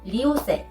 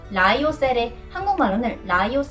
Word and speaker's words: Lyocell: La pronunciación Lyocell, en coreano creo que va a ser mejor llamarlo Lyocell. Lyocell. Voy a hacerlo con pronunciación británica.